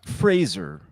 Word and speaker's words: Fraser: It's pronounced Fraser. Brendan. Not a lot of people say it right.